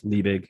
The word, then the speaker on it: Liebig: I think it's Liebig. I'm probably mispronouncing that. Law of Minimums. All the OGs You pronounced it correctly.